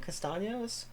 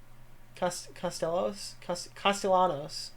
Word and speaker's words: Castellanos: Castaños? Castellanos.